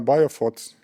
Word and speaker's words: BioPhoT: Uh firstly what I want wanted to add uh to this story is that firstly bof uh biofot I pronounce it right?